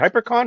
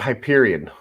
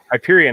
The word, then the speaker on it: Hyperion: Is it HyperCon? Is that how you pronounce it? Hyperion. Hyperion. That's it. I knew I was saying it wrong.